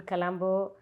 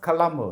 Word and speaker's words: Colombo: It's wonderful to have you in Colombo, in our home country. How is that pronounced? Colombo, is it? Colombo. Not Colombo. கொழும்பு தமிழ்ல கொழும்பு. Colombo is in English.